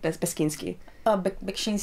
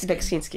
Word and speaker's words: Beksiński: but, you know, when I was in Poland recently, I went to I can't pronounce his name, Beskiński. Beksiński, yeah.